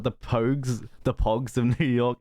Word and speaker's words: Pogues: fairy tale New York writers yeah by the Pogues yeah yeah yeah how do you how do you pronounce my name I'd say poked yeah bro